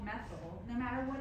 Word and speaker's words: methyl: Okay, so what we do is we take the ane off of methane and we replace that with YL, so you pronounce that methyl.